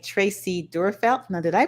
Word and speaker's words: Durfelt: And next, we have in our lower right, Tracy Durfelt. Now, did I pronounce that correctly?